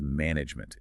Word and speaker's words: management: That final e, and frankly the e in the middle are virtually silent. It is management. It is a tight compact word.